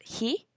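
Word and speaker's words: 火: that exists today Master fire which is called he he um they have like the picture of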